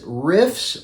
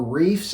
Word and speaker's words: Riiffs: do you think so the brand is riffs or reefs I've heard it pronounced and uh some some